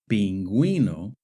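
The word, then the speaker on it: pingüino: But in the word veruena and in the word pinguino, the u is pronounced.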